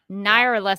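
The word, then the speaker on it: Nyarlathotep: i can think of is the near lethatep naira left that's how you say it okay okay uh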